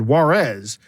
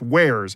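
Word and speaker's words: warez: W-A-R-Z, and I said, Juarez. And they said, no, it's pronounced Wares.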